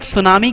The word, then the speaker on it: tsunami: कह सुनाई यहां पर टीम साइलेंट है कोई स्कूटी सुनामी नहीं पड़ेगा इसको सब सुनामी केवल पड़ेगा इस डेट गैजेट यार